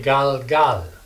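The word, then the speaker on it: גלגל: We'll put 2 dots right here. Gal. Gal gal. This right here, the 2 dots, shows that there's no vowel. You just move right to the next letter.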